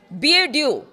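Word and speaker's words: BeiDou: ईरानी सेना के नेविगेशन को अमेरिकी जीपीएस से हटाकर चीन के एनक्रिप्टेड बीएड्यू जिसका जिसकी स्पेलिंग है बी ई आई डी ओ यू तीन पर ट्रांसफर किया है।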